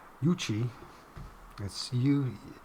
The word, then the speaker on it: Yuchi: UFO and alien contact cases an ancient yucky dude that's not right yuchi let's see you it's y-u-c-h-i It's gotta be